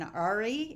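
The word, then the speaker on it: Åre: It's called The Murders in Ari. It's spelled A-R-E.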